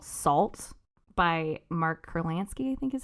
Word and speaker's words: Kurlansky: And so I found this book called Salt by Mark Kurlansky, I think is how you say it.